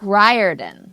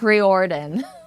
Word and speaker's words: Riordan: have to tell you his name is Rick ryen yes that's how you pronounce it I'm a librarian and I've been